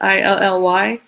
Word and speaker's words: illy: Is it pronounced Ely or Illy? Illy, giving a plug to them.